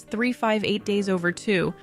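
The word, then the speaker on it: 358/2 Days: Next up is Kingdom Hearts 358 Days Over 2, which yes, is pronounced just like that.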